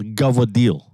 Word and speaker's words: cavatelli: The correct way to pronounce that is? What? For Italians? Gavadil. Gavadil. Oh. That's how the fuck you say that in American Italian.